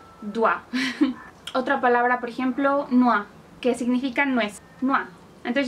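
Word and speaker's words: noix: Otra palabra, por ejemplo, noa, que significa nuez. Noa. Entonces ya lo tenemos. O, I, se pronuncia ua.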